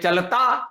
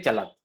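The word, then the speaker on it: चलति: चलती खड़ी बोली में चलता ग्राम में चलत संस्कृत में चलती तो यह चलत बोलना आना चाहिए चलती नहीं है चलत और चलती य लघु है और दीर्घ है उच्चारण का थोड़ा सा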